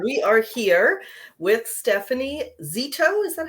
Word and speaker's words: Zito: we are here with Stephanie Zito, is that how you say it?